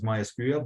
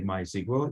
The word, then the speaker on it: MySQL: MySQL is often pronounced as MySQL, but some people say MySQL. It's also perfectly fine.